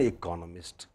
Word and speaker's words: economist: but next word no it is again economist you see ist does not so it is in